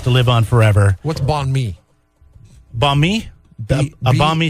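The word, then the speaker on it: bánh mì: You just don't pronounce the end. It's just banh mi sandwich, I believe is how you say it. But I'm not. Well, it sounds like you're saying balmy.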